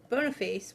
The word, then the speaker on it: Boniface: In the 5th century, Pope Boniface was I think that's how you pronounce it. I think it's Boniface. Boniface?